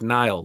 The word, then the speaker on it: Nile: I'm like Nile, like the river. Just think of the river. That's it. Spelled the same, sounds the same.